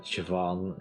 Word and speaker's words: Siobhan: Like, I only know by happenstance that Siobhan is indeed pronounced that way.